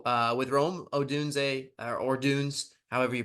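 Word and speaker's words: Odunze: with Rome Odun or Dunes however you pronounce it I feel like it's Odun it's Odun yeah Odun okay perfect uh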